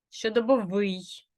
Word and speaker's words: щодобовий: побачимо яка Бука наголошена якщо и то правильно щодобовий як і звук наголошений тисовий якщо О то правильно тисовий якщо ви вимовляєте не так як я значить ви наголошуєте